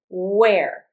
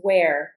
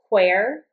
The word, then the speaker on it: where: Where. Notice that when I pronounce where, I really don't pronounce the H. You might hear where, but it's more common to hear and say where.